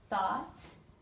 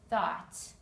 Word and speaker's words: thought: okay this consonant combination thought the T and H make a sound together it's a another consonant combination you put your tongue between your teeth thought for those of you